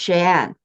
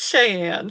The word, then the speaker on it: Sheyenne: It's Sheyenne. It is Cheyenne. Thank you. Because it's like Cheyenne and it's Cheyenne.